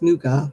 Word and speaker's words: nougat: It's not nugget, it's nougat.